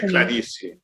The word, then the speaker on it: Clarice: You, I don't know, do you think that you and Clarice or Clarice, I'm still not sure how to pronounce her name. They say Clarice.